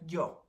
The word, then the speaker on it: yo: And yo in Spanish is pronounced like yo, like almost J-O, but it's a Y, and that means I.